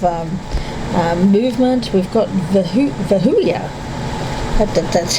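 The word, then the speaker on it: Vehuiah: We've got vahula. That's how you pronounce it.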